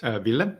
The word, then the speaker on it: Ville: Is it pronounced Ville? Is that correct? Ville, yep.